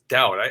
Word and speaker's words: Daudt: And I think that's now, you always pronounce it Daudt. It's Daudt.